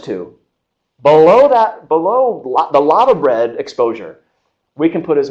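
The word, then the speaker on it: laverbread: never tried it uh it's called lava bread uh it's spelled l-a-v-e-r bread and this is the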